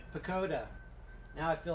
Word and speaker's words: Pochoda: It's Pochoda. The H is silent. Pochoda.